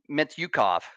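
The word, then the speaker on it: Mintyukov: Their forwards, guys like Zegras, guys like Terry, and even guys like Mityukov.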